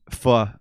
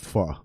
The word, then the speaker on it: pho: I've been told that with pho is the pronunciation of that.